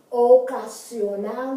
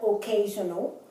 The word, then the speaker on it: ocasional: Ocasional, not occasional.